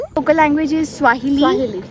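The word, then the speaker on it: Kiswahili: local language is स्वा ऐसे करके के से स्टार्ट है के कुछ एंड देन वो उसका case I it's silent local language is स्वाहिली या बस ये है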